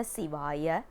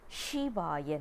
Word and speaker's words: Sivaya: One more thing that we need to understand is we don't pronounce it as Shivaya Nama or Nama Shivaya. Shiva is a name, it's not a mantra. Siva is a mantra because Si has a significant meaning, and that's one thing